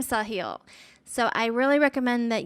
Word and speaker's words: Sahil: but uh his name his first name saw hill so i really recommend